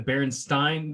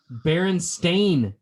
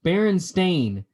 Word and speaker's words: Berenstain: it up right now it's actually pronounced berenstain bears baron stain and it's spelled berenstain